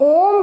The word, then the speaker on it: ओम: जब हम ओम का उच्चारण करते हैं तो आप खुद ध्यान दीजिए कि इसमें हम ओम को ज़्यादा खींचते हैं, तो इसके लिए हमें यही इसी प्लुत की मात्रा की स्वर की आवश्यकता होती है।